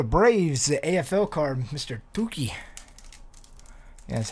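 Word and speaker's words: Touki: Tuki.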